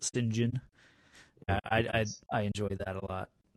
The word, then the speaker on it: St. John: But apparently, when you're upper crust, you pronounce it St. John.